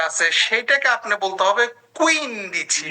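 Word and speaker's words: quindici: উন দিছি কুইন দিছি আবার এভাবে বলেন না যে উন দিছি কুন দিছি বা উইন দিছি কুইন দিছি না দুইটাই সম্পূর্ণ ভিন্ন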